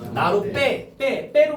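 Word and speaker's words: 나룻배: 저것도 나루 플러스 배거든? 그럼 발음하면 어떻게 되지? 나루 빼로 발음 되잖아. 그래서 시옷 써주는 거야.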